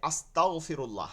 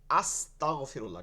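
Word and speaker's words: أستغفر الله: আমাদের কি করতে হবে এখানে আস্তাগফিরুল্লাহ হামজা দ্বারা উচ্চারণ করব কি দ্বারা আস্তাগফিরুল্লাহ ঠিক আছে আমরা যেন এই ভুলটা কখনো না করি তো আমরা যদি অর্থটা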